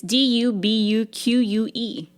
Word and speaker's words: Dubuque: It's Dubuque.